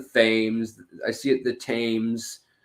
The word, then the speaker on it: Thames: i see it the thames uh the tim's river i guess it depends on what part of britain your accent's from also a uh or if you're not from there i mean you guys say it right however you say it in london but uh yeah the